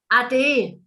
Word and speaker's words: ade: In local German, we say ade. There we are. I knew there'd be a different word. Ade. A-D-E. Ade. Ade. Like adieu.